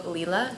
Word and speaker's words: Lila: And Elena, I don't know how Lila, that's how you say it from listening to the audiobook. I was saying it Lila, which is wrong.